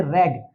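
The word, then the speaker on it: read: spelling यही होती है लेकिन प्रोनंसिएशन बदल जाता है इसे यहां प्रोनाउंस करेंगे रेड आई रेड this book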